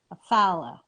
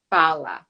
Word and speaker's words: Fallah: introduce you properly and give me the right pronunciation of your last name follow follow all right today my guest is fala